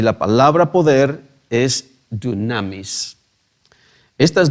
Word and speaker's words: dunamis: En griego, la palabra autoridad se pronuncia exousia, y la palabra poder es dunamis.